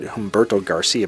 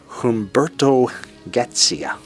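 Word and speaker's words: Humberto Gatica: time hbert to gcia I for years said Humberto Garcia but it's pronounced Humberto gcia and the album was recorded at several Studios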